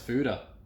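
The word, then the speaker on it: foeder: that's interesting what is a foider well it's pronounced fuda that's what it says in its simplest form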